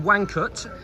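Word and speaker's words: Łańcut: castle for example in wanut it's spelled with an L uh l a n c u t so polish is very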